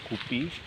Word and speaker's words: guppy: Tulisannya itu gupi ya, tapi saya sendiri bacanya gapi. Ada juga yang baca sesuai tulisannya gupi.